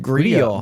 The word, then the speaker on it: Grýla: And it would be pronounced Grillo.